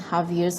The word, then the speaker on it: Xavier: Xavier's High School, or sometimes pronounced as St. Javier's High School, and St.